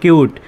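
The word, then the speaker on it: cute: একইভাবে সি ইউটি কিউট। একইভাবে সি ইউটি কি হবে কিউট উচ্চারণ হবে কারণ এখানেও দেখেন ভিসিভি রুল আছে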